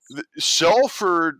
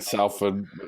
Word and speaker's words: Salford: sports how old food cuz it's like salt yeah you say the same way as you do so